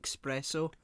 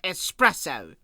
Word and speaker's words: espresso: says lads lads lads would pronounce it expresso probably yeah maybe can i have an espresso and then david mitchell appears with a gun and shoots someone goes it's pronounced espresso i like to imagine